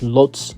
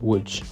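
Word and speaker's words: Łódź: you're probably looking at the spelling thinking that's pronounced Lots not wood but the correct pronunciation is wood now there's nothing in particular that's really wrong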